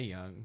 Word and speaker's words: Yung: like, you don't stay young. No. Clock's ticking. Well, it's YUNG. Doesn't matter. It's pronounced young.